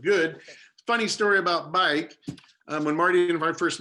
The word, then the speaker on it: baik: It's spelled differently, of course, but bike means good.